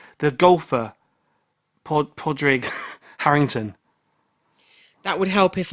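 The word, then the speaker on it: Padraig: Let me just Like Podrick, but like Patrick, but without the hard sound.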